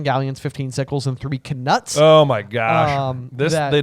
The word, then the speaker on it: Knut: the audio book uh a rare error by Jim Dale an uh pronounces uh knuts as NES oh uh which I think is kind of interesting because it just like also feels like a kind of wizardy like word I like that the word canuts is like you pronounce the k yeah like that's very